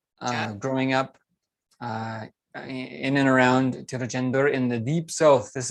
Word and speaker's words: Tiruchendur: This is installment number 2 with Kalyan from, I believe, Tiruchendur. Is that correct? Yeah, Tiruchendur. Okay. Oh, Tiruchendur. Okay. So my pronunciation is also getting better, I know.